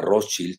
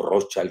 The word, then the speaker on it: Rothschild: fue funcionario de la banca Rothschild o Rothschild, como lo quieran pronunciar, si lo pronuncian en alemán o en inglés estadounidense, porque los británicos lo pronuncian diferente, pues él fue empleado de la banca Rothschild. Entonces, yo lo digo a la alemana, más que a la estadounidense, que saben ustedes, se